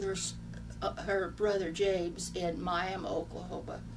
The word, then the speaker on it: Miami: her brother James and Miami Oklahoma it's spelled Miami but in Oklahoma it's called miam Oklahoma and then she met